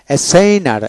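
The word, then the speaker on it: assigner: বানান করে করে যেন এসাইনার এসাইনার এস আই এন ই আর এসাইনার এখানে এস ডবল থাকলে একটা এস উচ্চারিত হবে এসাইন এসাইন এসাইন এসাইনেবল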